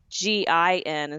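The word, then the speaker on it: Ginnifer: changed the spelling of her name to be g-i-n wait she changed the spelling because people were mispronouncing her name it was like people in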